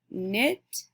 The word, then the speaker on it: knit: mmm sound because it's spelt these words are spelled with the letters K and together knit K and I T knit and Neal K and E e l our